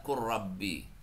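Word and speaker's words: قل ربي: Ni tulisannya kan qul rabbi. Iya. Nah, ini lamnya enggak dibaca lagi kok. Langsung baca qurbi. Nih dibacanya tuh dibaca qurrabbi. Padahal tulisannya qul rabbi.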